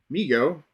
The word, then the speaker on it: Mego: response to overwhelming demand Migo pronounced Migo Corp was started by his father David Abrams in 1954 and named by his younger brother Howard who would say me go too Howard later